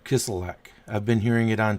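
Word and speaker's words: Kislyak: Russian ambassador Serge a kiss lick kiss elec Oh got to put the L in there kiss alack I've been hearing it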